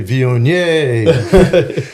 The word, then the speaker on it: Viognier: I've always thought the n i e r would be vier. Um, but I I think you most French people kind of relax a little bit and they're not pronouncing every uh syllable so strongly. So yeah, vion is it's fine. It's close enough for us.